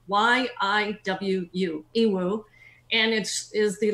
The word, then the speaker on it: Yiwu: That's spelled Y-I-W-U, Yiwu.